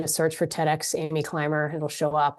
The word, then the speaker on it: Climer: Climer is spelled Climer. So there's no B in it.